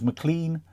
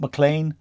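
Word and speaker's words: McClean: Likewise, and again I've heard him say this on Welcome to Wrexham, McLean, James McLean, not McLean. I called him McLean all last season.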